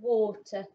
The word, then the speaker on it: water: had this one recently this one is the word water oh so it's this part that's tricky letter a is making the o sound we've got this one